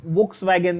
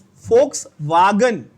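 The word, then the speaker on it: Volkswagen: बहुत लोग वोक्सवैगन ऐसा बोलते हैं। इट्स इट्स फोक्सवागन। फोक्सवागन होता है। प्रोनाउंसिएशन अलग है जर्मन का और रशियन का और ये सब चीज का, फ्रेंच का।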